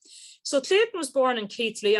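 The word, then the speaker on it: Keighley: clayton was born in keithley i'm told that's how it's pronounced in yorkshire in 1896 and he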